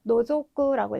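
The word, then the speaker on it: 除く: 그래서 덜어내다라고 하는 의미의 제자이고 노조구라고 읽어주시면 되겠습니다. 의미는 빼다 제외하다가 되겠고요. 네, 마지막 여기 맨 아래 있는 거는 카타무쿠라고 읽으셔서 기울 경자거든요.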